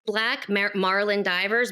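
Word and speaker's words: Black Marlyn Divers: So it's Black Marlin Divers, but they spell it Marlyn. And on Facebook, you can look up Black Marlin Divers spelled that way.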